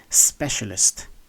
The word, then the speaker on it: specialist: pronounced as sure so the word is pronounced as specialist specialist instead of Specialist or specialist no it's specialist word number nine this